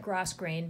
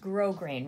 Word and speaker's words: grosgrain: number one grosgrain ribbon I know it looks like grass grain but it's pronounced grosgrain ribbon this is grosgrain ribbon right here it's